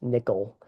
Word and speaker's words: NCIL: You can access information about the National Independent Living Movement at the National Council on Independent Living or NCIL pronounced nickel website and each state.